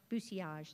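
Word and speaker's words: bousillage: Bucilage is how they say it.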